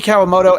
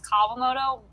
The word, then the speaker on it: Kawamoto: don't usually correct people technically it's kavamoto but oh kawamoto okay